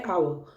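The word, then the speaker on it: hour: जैसे first word है आवर, यानी इसमें एच जो है वो साइलेंट है, आवर बोला जा रहा है इसको।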